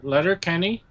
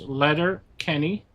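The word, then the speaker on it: Letterkenny: You got to watch Letter Letter Kenny. It's spelled the way it sounds. Letter Kenny, L E T E R K E.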